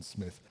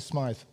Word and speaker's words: Smyth: I understand it uh it was Charles who decided to change the pronunciation to the more pretentious Smythe rather than Smith I believe okay historians